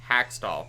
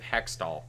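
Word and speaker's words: Hakstol: How do you say this name, Bryce? Dave Hackstall? Hackstall. Hackstall. Yeah, not to be confused with Hextall.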